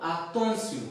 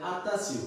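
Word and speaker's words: attention: তে আছে তাহলে বাংলার ব্যঞ্জন বর্ণের ত, আছে হচ্ছে আ, তাহলে উচ্চারণ হয়ে গেল আতনসিউ। আমাদের বাংলাদেশি কমিউনিটিতে অনেকে এটা উচ্চারণ করে আতাসিউ, কিন্তু এটা কিন্তু আতাসিউ না, আতনসিউ, আতনসিউ, আতনসিউ, ঠিক আছে?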